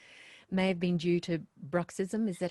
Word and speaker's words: bruxism: She said, touch wood, much Yeah, better now, but the stiffness and clicking may have been due to bruxism. Is that how you pronounce yes, it?